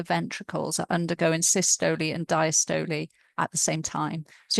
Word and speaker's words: diastole: And when it relaxes, we have diastole, which I've heard some Americans pronounce as diastole. So diastole is how I heard it pronounced usually in the UK.